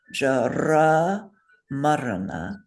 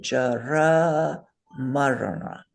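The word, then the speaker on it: jarāmaraṇa: And that na is cerebral. So put your tongue up against the roof of your mouth and say Jara Marana.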